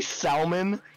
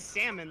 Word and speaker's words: salmon: salmon valid pronunciation it's isn't it salmon I know I know it is salmon like I know that that I know salmon is correct but isn't Salman also accepted I don't think so I hate words that